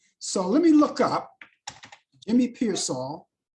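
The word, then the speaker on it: Jimmy Piersall: I pronounced his name wrong before. So let me look up Jimmy Pearsall. Jimmy Pearsall, yeah, that's his name.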